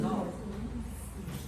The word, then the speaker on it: tau: How to find the shear stress. Shares stress. Shear stress. T. Lovely. What is this one? T or tau? How? Why? Does this look like T? No. We call it tau.